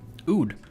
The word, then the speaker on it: oud: an how do you even pronounce this uh pronunciation how do you say it oud oud okay this is an oud and it is